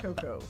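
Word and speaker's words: Anacoco: Anakoko. It's yeah, Anakoko. There's no other way to pronounce it. Of course. Anakoko? Anakoko. Anakoko. Sounds like sisters Anna and Coco.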